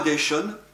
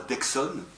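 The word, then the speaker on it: Deixonne: Loi Dayton, je me plais à prononcer Dayton et non pas Dexon, parce qu'il était occitan.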